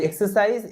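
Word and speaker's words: exercise: একটা হচ্ছে এক্সারসাইজ, এখানে এক্সারসাইজ এরকম ভাবে উচ্চারণ করছি না, এখানে গ জ উচ্চারণটা হচ্ছে না, এখানে কিন্তু মানে কস সাউন্ডটাই উচ্চারণ হচ্ছে।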